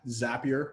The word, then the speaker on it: Zapier: that were wondering uh zapier rhymes with happier and that's how you pronounce it so zapier allows you